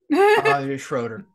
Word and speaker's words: Schroeder: it'll be home I'm probably not going to pronounce the name right uh-huh is it Schroeder yeah oh okay Schroeder the bird yeah he plays a piano he